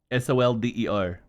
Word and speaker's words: solder: S O L D E R. Yeah, there you go. However, even though that's how that's spelled, most people pronounce it as like solder.